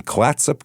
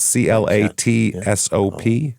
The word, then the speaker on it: Clatsop: This is in Klatsup County. Klatsup, I believe is how you say that. C L A T S O P. Clatsup. That sounds right. Clatsop. Something like that.